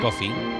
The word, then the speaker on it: Coffey: Y esos seres que fascinaron a John Coffey, como el café, pero se escribe diferente, siguieron brillando durante mucho, mucho tiempo.